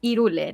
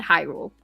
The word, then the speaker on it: Hyrule: the voice actors and they mention that it should be pronounced the way that you know the language sounds so unfortunately in Spanish is Ule not hyu I don't know that's